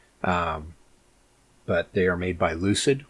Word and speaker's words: Lucyd: But they are made by Lucyd, which is spelled like Lucy D, so Lucyd.